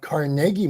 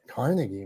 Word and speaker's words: Carnegie: back to in Pittsburgh we have carnegi melon and it's not Carnegie melon which I would call Carnegie melon yeah as a New